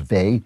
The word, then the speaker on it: Weil: You know, there's a philosopher, a religious mystic named Simone, her name is spelled Weil, but I think it's pronounced Vey, Simone Vey, she's French.